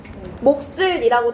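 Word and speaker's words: 몫을: 자음군 단순화는이 중에 하나를 없애 버리는 건데 얘 발음하면 어떻게 되죠? 목슬이라고 되면서 기억도 남아 있고 시옷도 남아 있게 돼요. 근데 시옷 같은 경우에는 된 소리로 남아 있게 됩니다.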